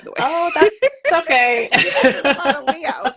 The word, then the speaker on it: Leah: introduce uh my guest for today so Dr Leah Jones I've been calling you Leia in My Mind by the way oh that's okay Leah I was like oh glad I clear that